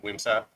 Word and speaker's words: Wimsatt: I don't think it's going to matter game 1, but game 2, I think you could see a lot of Wimsatt.